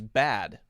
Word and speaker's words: bade: I believe the British pronunciation is bad, like B-A-D. She bade him go. But Americans say it as B-A-D-E, so it doesn't quite work, I think, as the author, as the poet intended it to work. because we would say made and bade in the same way.